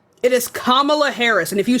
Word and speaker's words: Kamala Harris: It's Kamala Harris. It is Kamala Harris.